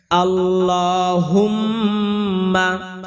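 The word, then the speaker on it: اللهم: এ কারণে এখানে এক আলিফ টান দিতে হবে আল্লাহুম্মা হা মিম ধরতে হবে এবং গুনা করতে হবে আল্লাহুম মা কোন টান হবে না।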